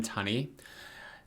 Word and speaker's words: Tunney: more hesitant to pronounce is it Robin Tunney or toony how do you say it I've only I've only ever heard Robin Tunney but okay it's uh Robin Tunney and Rachel true and